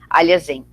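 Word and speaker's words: Alhazen: Seria o nome dele aportuguesado, digamos assim, né? Para quem fala português, a pronúncia do nome seria próxima a essa. Aliazen.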